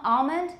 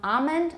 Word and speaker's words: almond: that's sorry that's pronounced but palm almond can either be palm almond or palm almond i tend to have